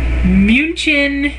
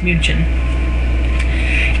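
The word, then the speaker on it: München: make a Munich well munin Munich however we all call it Munich Germany but the German pronunciation of it is munin and so I ordered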